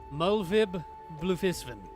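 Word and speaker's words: Merlwyb Bloefhiswyn: merlwib melvin melvip bluefisten i looked up how how ruggedin names are pronounced and that's mulvib bluefishman the room is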